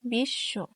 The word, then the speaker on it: বিশ্ব: মধ্যে অথবা শেষে ব ফালা থাকলে তার দীপ্ত উচ্চারণ হয় যেমন বিশ্ব এখানে হবে বিশ্ব এখানে তালিব স এর সাথে বসে এজন্য এটা